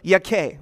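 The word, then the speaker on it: Jakeh: gur who is the son of yake or jakey as it's spelt but this is the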